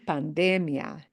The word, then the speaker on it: pandemia: But when you read that and you see no accent mark on that I of the IA, it means we punch the de, the second to the end syllable harder. So pandemia.